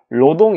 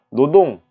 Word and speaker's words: 노동: 그들 은 " 여자 " 와 " 로동 " 으로 발음 하지만 , 우리 는 " 노동 " 과 " 여자 " 로 발음 합니다 .